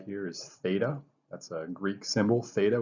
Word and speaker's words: theta: So the first one is coterminal, and so it says find a angle, and the way you pronounce this symbol right here is theta.